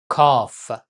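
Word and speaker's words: کاف: La lettre suivante, Kaf. Son nom c'est Kaf, mais on prononce K, comme K en français.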